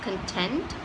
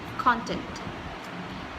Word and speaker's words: content: to see is this there are two ways to pronounce this word one is content and the other is content so both are not the